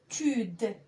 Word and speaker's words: habitude: A B habitude. إذن أجمع الأجزاء وأنطقها بمرة واحدة.